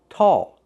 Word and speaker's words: tall: With the word tall, we see A-L-L. When you see A-L-L, we usually pronounce it with the sound aw. Aw, tall, ball, call.